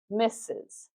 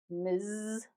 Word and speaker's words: Ms.: That's that Z sound or in British English zed sound.